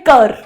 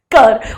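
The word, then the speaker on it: cœur: है ना हार्ट को हम लोग बोलते हैं कर कर उसमें ऐसा ओ ही ही आता है स्पेलिंग उसकी से होती है कर सी ओ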